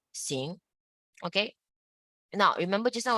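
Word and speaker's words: xing: i n is sin x i and G is sing okay now remember just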